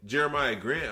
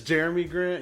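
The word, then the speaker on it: Jerami Grant: when you guys traded jeremiah grant i'm like his name is jeremy grant you call him jeremiah it's always been jeremy it's jeremy grant yeah okay excuse me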